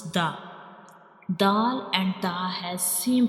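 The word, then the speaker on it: د: Dal and ta has same origin.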